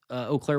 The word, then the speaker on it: Eau Claire: V2, I think, is who asked for this, Eau Claire, Wisconsin. You got to be impressed with me because I pronounced it right, because I've been to Eau Claire several times for work in the past, and